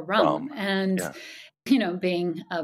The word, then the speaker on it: Ram: they teach you is, it's spelled ram, but it's pronounced more rum.